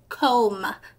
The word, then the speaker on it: comb: how we pronounce it comb the B is silent and it's an o sound comb and we call